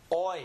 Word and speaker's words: hoy: Hoy. Remember the H is silent, so I just simply say hoy.